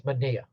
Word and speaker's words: Manaea: And that's how I pronounce Manaea. You cannot have and I from the same letter, the same name. It's Manaea.